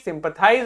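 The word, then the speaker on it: sympathize: देखो जहां भी आई के ऊपर कैप लगता है वहां पे इसका प्रोनाउंसिएशन आई हो जाता है, और जहां पे कैप नहीं लगता वहां इसका प्रोनाउंसिएशन ई रहता है।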